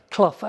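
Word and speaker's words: Clough: Um, I'd like to say Robert just asked me how I pronounce my name and I like to say as in mouse, Kluff as in Brian, but you have to be a certain age to know the last one.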